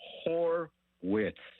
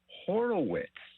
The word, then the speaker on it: Horwitz: show, please tell him the correct pronunciation of Spencer Horwitz is not Horowitz. It's actually on the Major League Baseball site. You're right. There's not a second O in there.